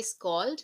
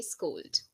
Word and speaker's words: scold: So we don't say scald, we say scold.